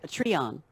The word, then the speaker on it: Patreon: was set up a patreon page a long time ago is that how you say it that's really patriotic I don't know yeah a tree on yeah thank you that's it that's a we so